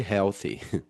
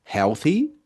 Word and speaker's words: healthy: Maybe that's because they aren't very healthy, né? Talvez seja, né? Porque não são muito healthy, muito saudáveis. Atenção pra pronúncia de healthy, ok? Healthy, não confundir com health.